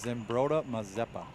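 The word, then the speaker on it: Zumbrota-Mazeppa: Zimbrota Mazeppa.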